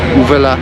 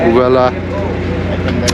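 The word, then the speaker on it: Huelva: So I'm headed to Uvela tomorrow. It's got an H in front but they don't pronounce it. So I'm going to Uvela, and from then onwards to Lisbon, pick me way to Lisbon.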